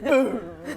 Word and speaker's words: Butte: Hmm I'm just going to give you my surname Butte Huh Boo!